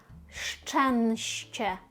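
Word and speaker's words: szczęście: Щенще, щенще, щенще. Швиденько, так. А помало ще. Ми читаємо ш і ч. Так. маємо на початку саме ці два звуки, як ш.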